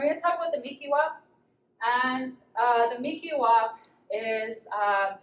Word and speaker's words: Mihkiwahp: There's different dialects that people will pronounce the word Mihkiwahp. I've heard people say Mihkiwahp, and different ways, but this is how I say it.